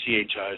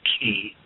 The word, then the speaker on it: chi: as chi, or spelled C-H-I, so you can pronounce it chi or ki, energy in the human being.